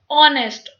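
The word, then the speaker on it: honest: ऑनेस्ट, ये एच हमारा silent है, हम इसको ओ से ही स्टार्ट करते हैं बोलना, ऑनेस्ट।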